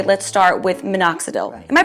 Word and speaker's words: minoxidil: you would most likely say let's start with minoxidil am i pronouncing that correctly that's right ok that's right